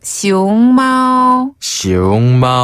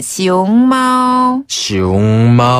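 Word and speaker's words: 熊猫: 네, 판다는 중국어로 시옹마오. 한 번 더, 시옹마오. 네, 이때 시옹은 곰웅자거든요. 네. 곰웅자를 중국어로는 시옹이라고 발음하고요. 시옹. 그 다음에 마오는 고양이를 뜻해요.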